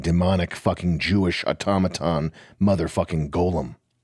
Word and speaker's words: golem: And even worse, a fucking demonic fucking Jewish automaton motherfucking golem. Or golem if you're Jewish pronouncing it.